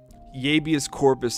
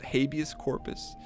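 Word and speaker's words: habeas corpus: welcome back bud e Yus Corpus Act that's a real thing believe it or not that's a real thing I don't think it's pronounced it's spelled that way but habus Corpus Tyler Young House you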